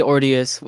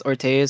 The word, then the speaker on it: orteus: Just so just don't say Ordius. Every time I hear that, I get pissed off. It's Ortas or Okay, now I know.